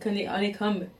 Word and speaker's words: honeycomb: Ok, mais c'est pas honeycomb, c'est honeycomb. Honeycomb. Tu prononces pas le B. Pourquoi? Honeycomb. Quand est-ce que quelqu'un a décidé de mettre un B mais pas le dire?